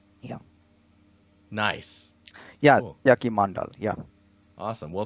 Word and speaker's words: Satyaki Mandal: Yeah, that is Satyaki. Actually, Satyaki. pronounced. Yeah. Satyaki Mandal. Yeah. Nice. Yeah. Cool. Satyaki Mandal.